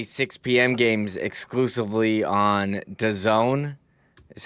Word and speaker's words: DAZN: games exclusively on DAZN is how you pronounce the streaming service that's spelled capital D A Z N.